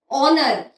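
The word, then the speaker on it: honour: ऑनर, ऑनर की spelling H से शुरू होती है, लेकिन उसमें एच साइलेंट होता है.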